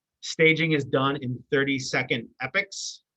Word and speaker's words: epoch: is done in 302 epics that word looks like Epoch it is pronounced epic staging is very fluid